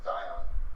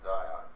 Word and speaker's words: Xion: So then they have this other girl named Xion, whose name is spelled like Xion. Mm-hmm. I always pronounce it as Zion for some reason.